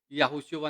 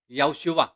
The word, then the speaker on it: Yahushua: madali lamang pong bigkasin Hindi po yahushua ng buo kundi pag bigkas nito yoshua Ayun po yun sa